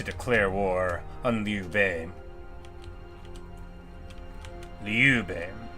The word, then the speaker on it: Liu Bei: Liu Bei, with an accent on the second syllable.